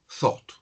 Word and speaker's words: thought: Y el pasado, que es irregular para complicarme más la vida, se pronuncia thought, thought. Y la T tiene que sonar al final, thought.